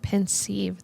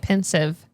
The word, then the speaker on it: pensieve: Oh, pensieve. That makes more sense. I was calling it pensive.